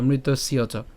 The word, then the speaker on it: মৃতস্য চ: আচ্ছা, তো আমরা আসি যে মৃত্যুর উচ্চারণ হবে, এরপর হচ্ছে ধ্রুবং জন্ম, এরপর উচ্চারণ কি, মৃতস্যচ, অথবা একসাথে উচ্চারণ করবো, যেহেতু বলেছিলাম মৃতস্য, ঠিক আছে, একসাথে আমরা উচ্চারণ করবো মৃতস্যচ।